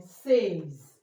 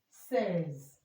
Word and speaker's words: says: You can also hear it in says says.